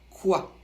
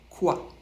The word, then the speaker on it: quoi: Il se prononce quoi. Q et U, ça fait le son que. On ne prononce pas le U.